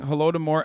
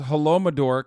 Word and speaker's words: Holodomor: Plus, he's still pronouncing Holodomor as Holomador.